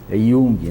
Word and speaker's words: Jung: Por exemplo, Jung, né? Puxa, é completamente diferente da maneira que escreve, né?